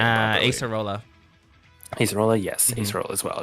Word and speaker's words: Acerola: Acerola.